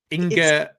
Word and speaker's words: Inge: And just so I get your name pronounced correctly, ing.